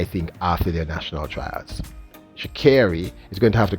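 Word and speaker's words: Sha'Carri: I'm repeating it because people keep telling me I'm pronouncing her name incorrectly, and I think I'm pronouncing it the way she says it, Sha Carri.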